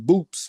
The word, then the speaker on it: Boops: See, his real nickname was Boops with a P at the end. And in the gym, people started calling him Boots because they thought Boots was Boots. So it was they started mispronouncing it.